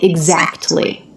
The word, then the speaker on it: exactly: l y so when t comes between two consonants it's really common in American English to drop it and that's what he does he does not say exactly you will find very few people pronouncing it that way exactly exactly with no T is a much more common pronunciation exactly I know exactly